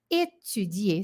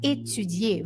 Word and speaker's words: étudier: É o I com boca de U, é o biquinho.